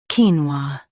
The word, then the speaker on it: quinoa: Today we will learn how to pronounce the word shown on the screen, quinoa. Both US and UK have the same pronunciation of this word. Stress keen first. Keep wa soft and smooth.